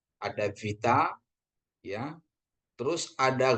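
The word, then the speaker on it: βήτα: Ini vita ya. Jangan sampai kita sebut B ini ya. Ada vita ya.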